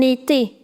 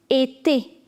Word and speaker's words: été: And the next word is été. Now, see, the pronunciation of this in French is e, e. Now, when you put this accent, it becomes A.